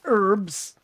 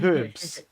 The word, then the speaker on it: herbs: is why Americans say herbs and we say herbs well herbs is actually correct because it's a French word and they don't pronounce the h so technically herbs is